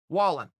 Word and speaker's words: Wallin: Wallin.